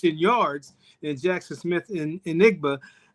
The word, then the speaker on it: Njigba: in Jackson Smith and Enigba. Did I say it right? Njigba. Thank you. Yeah, Njigba.